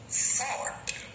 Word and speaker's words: thought: Here, OUGHT come together, so UGH are silent. We can read this word using blending. So the word is thought.